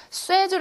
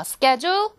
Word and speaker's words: schedule: 쇠줄 아니야? 쇠줄. 꼭 쇠줄이라고 바르는 학생들이 있는데 다시 발음 shule. 발음을 하는 거. Schedule. Shadle. 그렇죠?